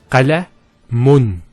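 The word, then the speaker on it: قَلَمٌ: If we put two dhammas, it will be pronounced as qalamun. Qalamun. So notice the noon sound at the end.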